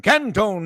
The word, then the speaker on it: Canton: Hey, by the way, do you call it I call it Canton, Mississippi. Jack called it Cantone. How do you pronounce it Cantone out of respect to the great Jack Crystal? Never have. It's always been Canton for me.